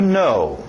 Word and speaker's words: know: inglês, yes e no, essa mesma pronúncia do no. To know. To know. Okay? Escrito estranho, não vai muito pelos seus olhos.